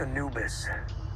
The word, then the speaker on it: Anubis: the ships called the an you but it's pronounced Anubis Egyptian god of the dead that's not good